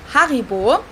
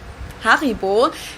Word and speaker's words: Haribo: Haribo is actually German we pronounce it Haribo Haribo and again the name